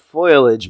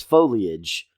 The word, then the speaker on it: foliage: all this beautiful foliage it's not voyage mom its foliage foliage that's what I said